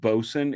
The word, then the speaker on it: boatswain: boats and boson America spelled boat Swain but it's pronounced boson it is an outmoded